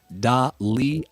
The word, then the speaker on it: Dahlia: It's Dahlia. Certainly not Delilah. Dalia is Dalia. very different. Yeah, That's delightful. That's not Delilah at all.